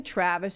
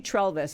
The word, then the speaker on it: Trelvis: I have a substitute producer here today because Matt is out this week, and I was calling him Travis. His name is actually Trelvis.